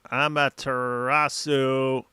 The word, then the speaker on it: Amaterasu: The appropriate pronunciation of this uh this nerd term is with her sharing and burn him with amar amaterasu.